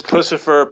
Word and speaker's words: Puscifer: Puscifer, I think I can never pronounce their name correctly. It's Puscifer, Perfect Circle, and Tool.